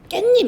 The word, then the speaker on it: 깻잎: 깻잎 있죠. 얘 우리 깻잎 이렇게 발음하잖아. 근데 사실 얘의 원래 표기는 깨잎이거든요. 깨의 잎이라서. 근데 이 깨잎을 사람들이 깨잎이라고 발음하지 않고 자꾸 깻잎 이렇게 발음을 하는 거야.